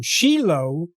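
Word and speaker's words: Shiloh: and the place name Shilo yeah we pronounce it o at the end but it's written with a hey so the final he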